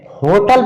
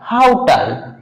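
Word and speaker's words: hotel: ध्यान रखेंगे कि इसको हम जो है होटल पढ़ते हैं, लेकिन नहीं, ये जो है गलत होता है। आप जो है गूगल डिक्शनरी को प्रोनाउंसिएशन साउंड को सुन सकते हैं, तो इसका कुछ प्रोनाउंसिएशन कुछ ऐसे आएगा, हाउटल, होटल नहीं, हाउटल, हाउटल, ऐसा साउंड आएगा।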